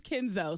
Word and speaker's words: Kenzo: The baby's name is Kenzo, so yeah. Rhymes with Benzo.